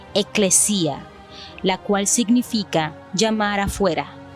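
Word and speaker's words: ἐκκλησία: La palabra traducida en español como iglesia está codificada en el griego bajo el número 1577 y se pronuncia eclesia, la cual significa llamar afuera, es decir, para una reunión popular, una congregación.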